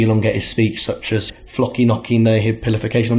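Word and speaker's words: floccinaucinihilipilification: It's flocky knocky nahibification. That's how you say it.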